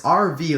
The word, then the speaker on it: Arvy: Of course, RV like A RV V Y is exactly RV like when it's pronounced.